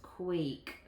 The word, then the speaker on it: quake: But I see my VCE pattern here, right? VCE. So that's going to make a long A sound. Quake. Very good. I don't hear that E.